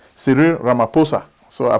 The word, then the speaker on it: Ramaphosa: i used to say ramaphosa they say no islamaphosa so the h is silent thank you i've learned from you guys how to pronounce the name siri ramaphosa so i pronounced the